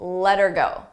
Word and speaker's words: let her go: For pronunciation, let's talk about let her go. Let her go. Here, notice how her sounds like You don't hear the H, but I also attach it to the word before.